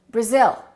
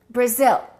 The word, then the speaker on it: Brazil: I am from Brazil. No, this is no longer ah, it's uh Brazil. Brazil.